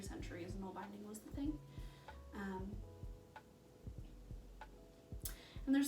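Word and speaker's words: nålbinding: Knoll binding, which is spelled N-A-L, binding, needle binding, is like I said, a fiber art that predates knitting, which is their primary thing.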